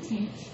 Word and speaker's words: tanh: It's actually, you can pronounce it tanh, 0.